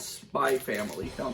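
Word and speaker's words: Spy × Family: I mean, it's maybe the most popular show right now, called Spy Family. It's written out Spy X Family, but I guess the X is silent when they put it in titles like that.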